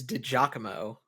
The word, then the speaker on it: DiGiacomo: Yeah, it's DiGiacomo. I don't correct you because I like you, Joe. That's why. I know, but like I'm just like phonetically DiGiacomo. Like I'm reading it out phonetically. It's Italian. Yeah, that's why it sounds more. It sounds more Italian the way I say it than the way you say it.